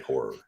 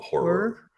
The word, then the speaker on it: horror: I always try to make those 2 syllables because Nick Gadman told me that Americans always drop that and only say 1 syllable and say horror instead of horror.